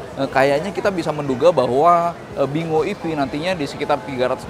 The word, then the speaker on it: Binguo: Jadi nama resminya adalah Bingo. Bacanya tetap Bingo sih.